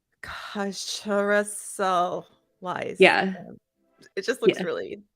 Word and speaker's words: Chrysalism: Chrysalism. And Yes. I know what you're saying about the pronunciation. It's actually not that hard to say chrysalism. It's the way it's spelled. I'm like, chrysalism.